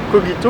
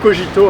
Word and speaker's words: Cogito: Cogito ou Cogito, hein. Souvent on me pose la question comment oui, on prononce. C'est vrai qu'on sait jamais comment le prononcer. C'est vrai qu'on peut dire les deux en français, donc c'est au choix l'un ou l'autre.